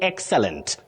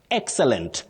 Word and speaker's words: excellent: Bob Musioka of Kitui, you say excellent. Excellent, not excellent. Excellent, no. Avoid that.